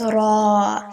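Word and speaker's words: راء: Then there's ra. First, it rolls like this. Ra. And then there's the alif that at the end that makes it longer. So it's ra. Ra.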